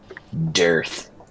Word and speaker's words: Dearth: Dearth. Rhymes with Girth.